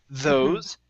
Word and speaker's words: those: Okay, so we have two different types of THs here. We have a voiced TH, those, and an unvoiced, thoughts.